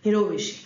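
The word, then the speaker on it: jirovecii: which primary infections pneumocystisy it's j-i-r-o-v-e-c-i but we pronounce it as hero wish so wish then you have cytomegalovirus tuberculosis histoplasma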